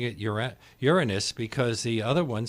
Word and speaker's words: Uranus: Greek well doesn't it the preferred pronunciation would be Uranus but but Uranus for whatever reasons just hard to say with a straight face I'm very sorry I